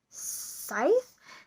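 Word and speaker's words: Sceith: thread Geeks and the arter artist is a scythe it's pronounced or it's pronounced it's spelled s c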